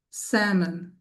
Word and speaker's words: salmon: This word is salmon. Salmon. Notice again the little curve on top of the a there is called the brev. It's to let you know that it's a short a sound.